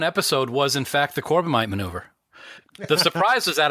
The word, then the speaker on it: Corbomite: My number 1 episode was, in fact, the Corbomite maneuver.